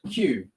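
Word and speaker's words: queue: things out there that, like the letter Q, the word Q, we line up for something, is in fact just the letter Q followed by 4 silent letters. You don't need those letters to sound the word.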